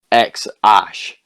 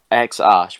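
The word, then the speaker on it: X Æ: and he said the the first part xae is his his partner's choice and it's pronounced x ash x ash which i don't really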